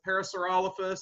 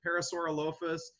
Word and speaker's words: Parasaurolophus: So you could pronounce it Parasaurolophus, you could pronounce it Parasaurolophus, you could pronounce it whatever, you know, you want.